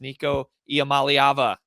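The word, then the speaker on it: Nico Iamaleava: do know how to say his name it's Nico yam malava so there you go fans if you if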